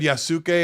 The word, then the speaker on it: Yasuke: I think it's Yasuke. Yasuke. So it's like the U is like so short. It's there, but it's so short.